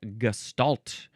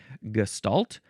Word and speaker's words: gestalt: Gestalt. Gestalt. Gestalt. or gestalt. So in the middle it's an s or a shh sound and then it's stal or stoalt with an s or a sh an s a s or a sha.